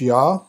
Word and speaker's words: Jah: and it's usually pronounced yah and but it's the